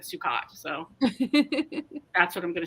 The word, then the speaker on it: Sukkot: Sukkot, or I don't want to say it's. I don't think it's suck it.